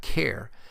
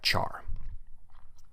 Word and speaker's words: char: pronounce it as type care since it is short for character but i've always pronounced it as the type char and the last primitive